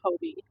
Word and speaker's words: Hobbii: I'm not sure if that's Hobby or Hobbii, however you pronounce it. I pronounce it Hobbii.